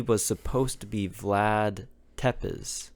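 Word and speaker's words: Țepeș: No, because he was supposed to be Vlad Tepes. Vladimir Tepesh. That's how they say it. Like it's a fucking H.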